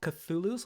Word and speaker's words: Cthulhu: time as well but I think it's called Cthulhu's like the C's a hard game sound it is yeah so